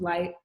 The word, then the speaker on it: Lighkt: A lot of people have been like, why is there a K? Is it still pronounced light if there's a K in it? Yes, is it like it? Right. You're like, what? Like it? That's me. But the K is in there, but it's silent, and the K is for, obviously.